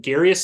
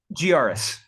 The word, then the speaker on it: Giaris: I guess her name is it Garius? Am I pronouncing that? Giaris. Giaris, yeah.